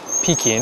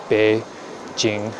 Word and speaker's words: Beijing: just read it as peing and that's how we often pronounced it um and they since changed the pinion which spells out Beijing the way it should be pronounced be Jing I always thought they